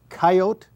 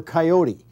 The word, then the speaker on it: coyote: this is a mounted coyote or coyote take your choice actually people pronounce it both ways depending on how they use it in the sentence sometimes I talk about